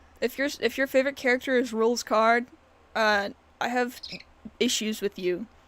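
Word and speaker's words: Rouxls Kaard: So his name is pronounced Rules Card. But it's just spelled funny.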